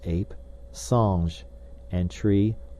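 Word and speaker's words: singe: in the same way he was taught to pronounce ape San and tree AR he was a most eager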